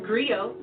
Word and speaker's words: griot: share that history with you agree oh it's pronounced griot or in English agree on the West African